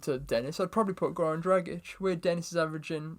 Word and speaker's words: Goran Dragic: I'm going to start with one of my boys, Goran Dragic.